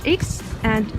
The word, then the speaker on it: Х: stall that sells bread, it sounds kind of like english H but it is harder than english H, for example the name